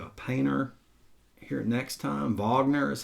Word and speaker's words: Wagner: Wagner is how you say this for opera.